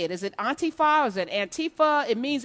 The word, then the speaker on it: Antifa: You're one of the founders of Antifa. And I remember having you on about 4 years ago talking about Antifa or Antifa. How do you say it? Is it Antifa?